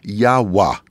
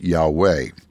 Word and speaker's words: Yahweh: of the true God the God whose name that they pronounced it was yahwah yahwah you and I know that name is Yahweh my friend would you